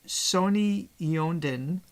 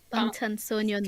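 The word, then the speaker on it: 방탄소년단: Is the Sony Yeondan... Bangtan Sonyeondan. Can I pronounce that for you?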